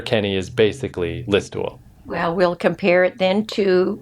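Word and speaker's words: Listowel: So he's actually from Listwell, which is that or Listwell is how they pronounce it.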